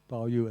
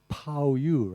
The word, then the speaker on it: Baoyu: He said, if I use Wade-Giles, most readers who don't know Chinese will pronounce Baoyu as Pao-Yu, right? P-A-O-Y-U. And they'll pronounce Bao Chai as Pao Chai. And they'll pronounce Dai-Yu as Tai-Yu, because that's what those letters mean.